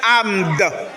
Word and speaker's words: armed: Donc après m, on a do. Donc ça fait armed.